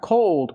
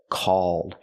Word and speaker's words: called: Not cold, but called. Use the aw sound like ball and fall.